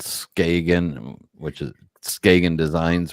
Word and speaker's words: Skagen: very interesting company called Skagen which is skan designs which is actually pronounced skan in Danish I got it oh